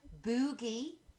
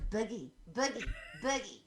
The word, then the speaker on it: Boogie: on facebook they said boogie boogie sorry i said it wrong you're americans man it's a buggy anyway it's a nickname